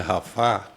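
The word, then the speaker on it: Rafah: E então tem aquelas outras cidades que a gente vê muito falando agora, Rafa, um se pronuncia Rafá, né?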